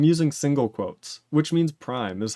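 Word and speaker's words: ′: V4 and going no it's readable yeah it's pronounced Prime I'm saying I use single quotes and it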